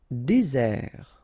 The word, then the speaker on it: désert: Désert, okay, remember, final T not pronounced, désert. And really this Z sound just because you get one S between the two vowels, okay, Z, désert.